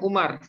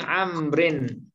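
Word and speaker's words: عمرو: Nah, kalau ada waw kecil sesudahnya, ini bacanya bukan Umar, tapi Amrin.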